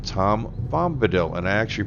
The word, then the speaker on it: Tom Bombadil: the northeast of here kind of sounds like Tom Bombadil and I actually pronounced it right this time because I was